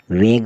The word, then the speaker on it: vague: VAGUE, वेग मतलब अस्पष्ट।